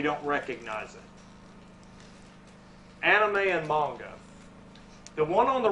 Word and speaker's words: manga: Has anybody ever heard of manga or anime before? It's pronounced manga. It's manga, yeah.